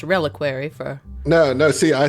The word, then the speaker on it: reliquary: Also pronounced reliquary for.